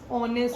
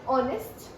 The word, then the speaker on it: honest: uh and then there honest honorable honest honorable yes then we have the words like where H is silent like honest honor honorable air the King has